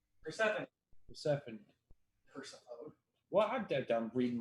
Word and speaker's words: Persephone: Is it Persephone? Persephone. Persephone. Persephone. Well, I'm reading my paper. It's spelled Persephone. Sorry. That's how I thought it was until I heard it pronounced.